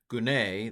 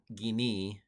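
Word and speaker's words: γυνή: Hopu he gune, this would be e gini in modern Greek, but anyway, pronunciation.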